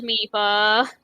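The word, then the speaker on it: Mipha: my but i'm like no game says meepa oh there is somebody who pronounces my phone they're the same person that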